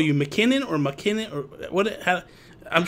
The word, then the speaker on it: MacKinnon: I've always called you, at least the people in our circles, McKinnon, and I think that's how you say it, right? That's the proper way, right? Yeah, it's like McKinnon. It's like you don't. It's not like okay. You don't say MacKinnon.